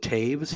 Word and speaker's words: Toews: Jonathan Toews, I believe they pronounce it Taves.